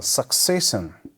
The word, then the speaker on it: succession: so number four is a succession s-u-c-c-e-s-s-i-o-n so we call it suck okay then say sin here also succession stress lies in the second server